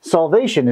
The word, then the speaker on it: solvation: Solvation is the process of dissolving. So that when you dissolve something in something, it solvates. Kind of sounds like the word salvation, but it's solvation.